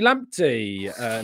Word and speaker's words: Lamptey: Let's bring on Asni Lamptey next. Am I pronouncing that correctly? Yes. I'm the second one of the Lamptey, you know, the Brighton player. Lamptey.